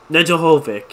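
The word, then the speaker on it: Nedeljkovic: noodle I've called them noodle for a while nedda Hovick yeah that's how you say his name the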